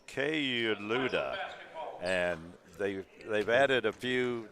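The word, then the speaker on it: Kayouloud: And rounding it out for the Raiders, it looks like K-Loud, number 33, a 6'7" sophomore from Paris, France. And folks, the correct pronunciation of that is K-Luda, and they've added a few.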